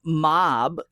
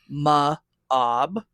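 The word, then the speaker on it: Maab: And Mob, the opposing leader, is like Ob, Ma-Ob. But the leader, he is the tier.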